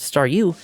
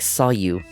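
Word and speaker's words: Staryu: staring was still just Staru, I could never pronounce its name right. I It always ended up sounding like Sou.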